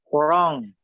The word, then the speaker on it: wrong: Wrong. Silent W.